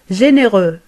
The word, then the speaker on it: généreux: إذن في المذكر تنتهي الكلمة بالفرنسية بحرف X. Généreux. ولا ننطقه. Généreux.